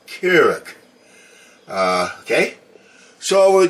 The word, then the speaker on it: Keurig: okay as we know that is a Keurig machine not a carrot machine it's a coffee maker not a Juice Maker okay so I know you guys are leaving comments and I did mispronounce it but it is pronounced Carrick uh okay so I